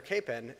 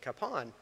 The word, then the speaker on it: Kapaun: in wichita and it's very common to hear capen and it wasn't until many years later that i i first really heard people pronounce it capone but as it turns out uh that is